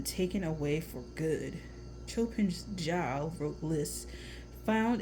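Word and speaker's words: żal: Zal, pronounced Jal, I guess, is melancholy felt at an irretrievable loss.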